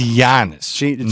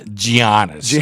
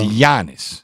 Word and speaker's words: Giannis: His name is Giannis, not Giannis. I know it's spelled like that, but the G followed by the E sound in Greek is the G is silent, and it's Giannis.